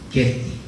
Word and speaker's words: Getty: Siapa pernah tahu museumnya, bacanya Getty atau Jetty di Los Angeles? Getty.